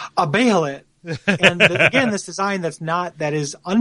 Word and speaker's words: Behelit: But Vargas has a Behelit. Am I pronouncing that right? I say like Behelit. Behelit? Okay. They say Behelit on both the animated forms I've seen.